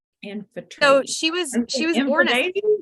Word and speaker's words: Amphitrite: Amphitrite. Amphitrite. So she was born Aphrodite? yeah, I know. I keep wanting to say Aphrodite. It sounds and looks like it, but it's spelled differently.